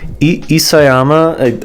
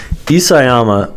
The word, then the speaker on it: Isayama: Isayama, I think I'm pronouncing it is Isayama. Isayama, right, is a master at gaslighting.